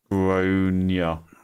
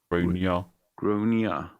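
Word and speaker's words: Gráinne: Generally pronounced Gronia. Gronia.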